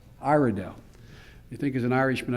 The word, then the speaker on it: Iredell: And am I pronouncing right, Iredell? Iredell.